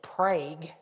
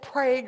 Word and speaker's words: Prague: Not the Czech Republic, Prague, Oklahoma. But I've been told that the Okie pronunciation is Prague. So it's Prague or Prague.